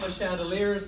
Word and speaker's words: Le Chatelier: And when we talk about equilibria and being qualitative about equilibria, we're really talking about Le Chatelier's principle, spelled Le Chateliers, but pronounced typically Le Chatelier's.